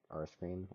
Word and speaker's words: R3CREAM: effects was made by R3's Cream, or R-Scream, I think is how they would want it to be pronounced. I don't know. But it's spelled R3, as in the number 3, and then CREAM.